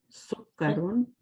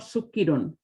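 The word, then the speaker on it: سُكَّرٌ: hajarun, stone, sukkarun, sugar, Sukkarun. sukkarun, Okay. No, it's okay. Sukkarun. Sukkarun mean not sukkirun.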